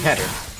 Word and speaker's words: Keter: That's how you pronounce it, Keter.